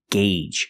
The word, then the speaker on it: gauge: And remember the pronunciation, gauge. Use the long A sound.